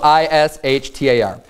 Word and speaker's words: Ishtar: is because it's spelled I-S-H-T-A-R. So in our common way that we would pronounce English words, it would say Ishtar.